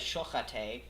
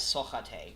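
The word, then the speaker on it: סוחט: But I just wanted to finish this off where it says, do not read this word as shochate, rather read it as sochate, because it's spelled with the same letters but different vocalization.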